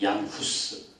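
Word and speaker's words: Hus: 지난번에 얘기했던 사람 중에 후스 후스 들어온 적 있죠네 우리 들어온 적 있습니다 후스가이 스라는 그런 어 발음이 사람들이 따라 가지고 이게 구스 구스 이렇게 들리는 거죠 그래서 스가 죽을 때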